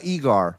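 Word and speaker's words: Eggers: it's called Florida uh it's pronounced uh eigar but whatever uh Edgar who made uh the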